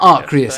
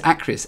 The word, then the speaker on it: Acrius: It's not Arcrius. Arcrius. It's Arc. It is spelled. It isn't spelled Arc. It is. It is Acrius, but it's not Arc. It isn't Arc. It is Acrius.